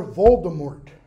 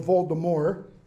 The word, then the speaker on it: Voldemort: of books death lord voldemort or voldemort depending upon your pronunciation if you want to print out something kind of crass english voldemort if you want to pronounce it frenchy voldemort what does it mean